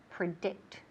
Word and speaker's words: predict: And fijaos bien que el énfasis recae en ¿qué? En la segunda sílaba. Predict, to predict.